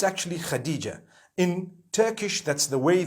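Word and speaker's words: Hatice: across the name Khadija in Turkish some people spell it h a t i c e I would say hatis for that no it's actually Khadijah in Turkish that's the way they write it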